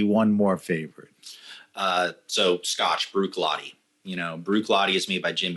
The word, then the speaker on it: Bruichladdich: How do you pronounce Bruichladdich? Bruichladdich.